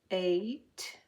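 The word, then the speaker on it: eight: She will break the date if it rains at 8. Now there are several words that have E-I-G-H, and most often they say A. The G-H is silent.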